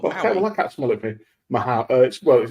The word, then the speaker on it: Mahou: Mahou. It's called Mao, but it's spelled Mahu. But indeed, the back post, nodded across.